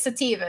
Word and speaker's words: sativa: focusing really sativa Tommy just told me it's sativa is that that must be the correct pronunciation Tommy you're holding back on me sativa